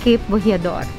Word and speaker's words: Cape Bojeador: I asked the locals here and it's pronounced Cape Bojeador.